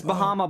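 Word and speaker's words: Barra: me so pointing across it's actually confusing because it's spelled b a r r a but in Portuguese it's B Baha Baha is how you Portuguese it is I think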